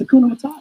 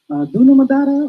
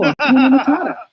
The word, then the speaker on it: Hakuna Matata: I'm like, it's Hakuna Matata, and they're just like, Duna Matata. Like no, Hakuna Matata.